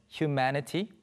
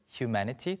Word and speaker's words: humanity: 먼저, 인류를 뜻하는 humanity, humanity 또는 humanity 이렇게 발음 되죠. 마지막 T가 좀 부드럽게 발음되는 경우가 많습니다.